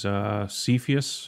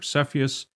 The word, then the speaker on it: Cepheus: So if I go into constellation as example, and I chose Cepheus or Cepheus, depending on how you want to pronounce it, I can click search and it's going to call up all of the objects in Cepheus.